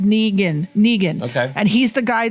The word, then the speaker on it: Negan: It's pronounced Negan.